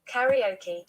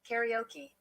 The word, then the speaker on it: karaoke: not pronounce this word karaoke sorry that's the british pronunciation let's go to the american pronunciation because it might be